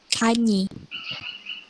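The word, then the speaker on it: gagner: Kemudian yang huruf G dan N itu G kalau sama N jadi satu itu atau bertemu itu dilafalkannya NY, ny. Contoh kanyi. Kanyi itu artinya memenangkan. Kemudian ada sing.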